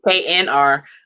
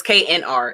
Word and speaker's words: KNR: So I knew about K&R. Is it K&R or KR? I want to say it right. It's KNR. Okay. Or it's KNR. It's an N.